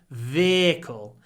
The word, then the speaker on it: vehicle: serious vehicle vehicle yeah you can say vehicle you can add a y if you like veicle vehicle but we don't usually do it we just say veicle it's a really serious